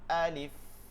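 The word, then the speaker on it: ألف: আলিফ আ আ leaf আ leaf আলিফ আলিফ। কোনোভাবে টান দিবেন না, আলিফ এরকম না।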